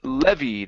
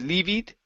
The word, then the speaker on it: levied: uh let's go to the word levid instead of leid okay it's Le levid leev good which were levied